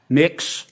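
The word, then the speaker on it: Mx: Cameron tell me what you're you're proposing it's pronounced next um mix is that how you how would you like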